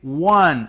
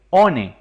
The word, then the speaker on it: one: Se dice one y no como aparece escrito ahí, one. Eso estaría incorrecto. Lo correcto es decir one.